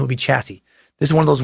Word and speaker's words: chassis: the word chassis, and because I said it chassis, like I almost did there, and completely destroyed the pronunciation. Common pronunciation would be chassis.